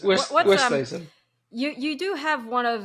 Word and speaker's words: Oosthuizen: But he was always convinced you pronounced your name incorrectly. He always thought it was oh really? Westhazen, Westhazen. Oh no, it's Oosthuizen. Yeah. Oosthuizen.